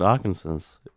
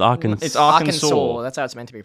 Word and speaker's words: Arkansas: pronounced differently that makes no sense I always pronounce it our concerns that's wrong it's Arkansas I thought it was my first sort on